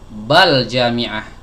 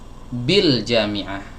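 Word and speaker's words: بالجامعة: Terus kenapa ini tidak dibaca bal jami'ah? Kenapa dibacanya bil jami'ah? Jawabnya karena ini bukan alif. Ya, ini adalah hamzah wasal.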